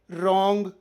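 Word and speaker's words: wrong: ಡಬ್ಲ್ಯೂ ನಿಯಮ ಪದದ ಆರಂಭದಲ್ಲಿ ಆರ್ ಅಕ್ಷರದ ಮುಂಚೆ ಡಬ್ಲ್ಯೂ ಬಂದರೆ ಡಬ್ಲ್ಯೂ ಸೈಲೆಂಟ್ ಆಗಿರುತ್ತದೆ ಉದಾಹರಣೆಗೆ ರೈಟ್ ರಾಂಗ್ ರಿಸ್ಟ್ ಡಬ್ಲ್ಯೂ ನಿಂದ ಸ್ಟಾರ್ಟ್ ಆದ್ರೂ ಉಚ್ಚಾರ ಮಾತ್ರ ಆರ್ ನಿಂದ ಆರಂಭವಾಗಿದೆ ನಿಮಗೆ ನನ್ನ ರಿಸರ್ಚ್ ಮತ್ತು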